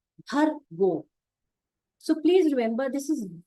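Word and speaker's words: भर्गो: One another thing, it is ra, not sh. So it's bhargo, bhashgo. Some people are not able to pronounce ra and then they say sh. So that difference between ra and sh is very important.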